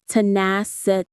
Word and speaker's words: tenacity: Tanaset stress on the second syllable.